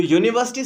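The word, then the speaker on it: university: बेशक जो हमारे पास यहाँ पे स्टार्टिंग हो रही है लेटर की, वर्ड की, वो यू से हो रही है यूनिवर्सिटी, बट जो साउंड आ रही है वो हमारे पास यूनिवर्सिटी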